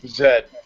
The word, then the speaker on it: Z: go ahead and correct him on his Z pronunciation and good morning Zed yeah you guys all know it's Zed at